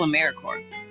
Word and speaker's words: AmeriCorps: AmeriCorps is alive and well, just spelled with a silent p. So think of apple core or core of the earth.